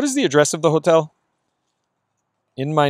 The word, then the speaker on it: hotel: Remember, don't pronounce the H. A mi nombre. ¿Cuál es la dirección del hotel?